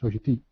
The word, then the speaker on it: Sogeti: I work at Sogeti, which we pronounce as Sogeti, in the Netherlands.